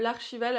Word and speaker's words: Archival: Et en encre, j'ai également acheté cette encre-ci, qui est l'Archival, alors je vous la prononce à la française, hein, de chez Ranger,